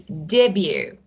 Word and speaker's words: debut: The third one is debut. Debut, T is not pronounced.